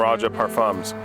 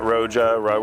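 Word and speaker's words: Roja Parfums: Abba is their clone of Kingdom of Saudi Arabia from Raja Parfums. By the way, if you're in America, it's Raja Parfums, not Roja, whatever. You can remember it's like pronouncing Roger, but you're British.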